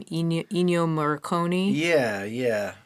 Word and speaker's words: Ennio Morricone: Ennio Morricone?